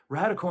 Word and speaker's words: radicle: Radical in this case isn't about being extreme. It's about taking inspiration from the natural world. In botany, r a d i c l e, radical, pronounced the same way, refers to the the